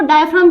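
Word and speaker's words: diaphragm: को भी हिंदी में डायफ्राम ही बोलते हैं वैसे, यानी वो हिंदी में इसे डायफ्राम ही बोलते हैं और इंग्लिश में भी इसे डायफ्राम ही बोलते हैं, ठीक है। जी साइलेंट होता है हमारा।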